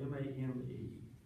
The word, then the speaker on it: Mame: Her name is spelled M-A-M-E. So I don't think it's Mamie, I think it's Mame.